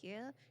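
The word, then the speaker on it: Hero: Hiro? No, it's Hiro. Spelled like you spell it.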